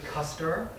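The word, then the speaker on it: Custer: The first is um the Kuster Observatory um it's spelled cluster but it's really Kuster um apologies.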